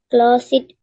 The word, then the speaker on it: closed: He saw Emma for a moment as she closed the curtain. Closed. That E is not pronounced.